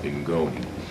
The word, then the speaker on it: Ngoni: That comes from Malawi and the language is pronounced Ingoni.